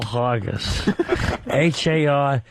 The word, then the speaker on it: Hargis: Yeah, my last name is Hargis, Hargis. Hargius. The U is silent. Hargis.